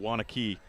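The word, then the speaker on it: Waunakee: But Brett, it's really looking like it's going to be Kokona Wanakee. Did I say that right? It's Wanakee. I think they pronounce Wanakee.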